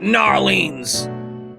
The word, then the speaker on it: New Orleans: The people in New Orleans cannot pronounce New Orleans. They were like Narleans, Narleans. Unfollowed.